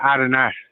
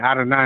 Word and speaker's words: Adonai: Uh well, Adonai is a um is another dialect or it's another pronunciation. It's uh it's like what they try to call modern Hebrew. Adawan is the uh ancient is the uh lashwa how the lashwan cuadash is pronounced.